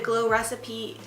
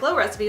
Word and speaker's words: Glow Recipe: recently put on the glow recipes oh that sounds so weird to say that I thought I was saying it wrong it is glow recipe but for some reason I was like lo recipe that's weird um anyway